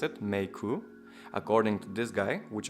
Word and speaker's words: Meike: Hey guys, so today I'll be taking a look at the Meike 25mm f1.8, and apparently that's how you pronounce it, Meike, according to this guy, which I will flash up on the screen right now.